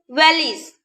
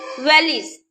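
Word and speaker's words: valise: Yun valleys. Yun valleys. Here we are pronouncing only the letter S. We are not pronouncing the letter E.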